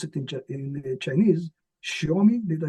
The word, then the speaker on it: Xiaomi: One example, Xiaomi, I don't know how you pronounce it in Chinese. Xiaomi, did I say it right? Xiaomi, yes.